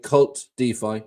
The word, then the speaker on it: KvltDeFi: telegram or on Twitter kvlt Dy cult defi is pronounced um I'm all over